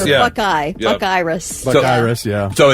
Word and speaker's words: Bucyrus: that's the first time I've ever heard that pronunciation. Wow. Bikerous. That is Bucyrus. Bucyrus. Hey, Bi-curious is what we're calling it from now on. When I was a kid, the first time I thought it was Buckarus.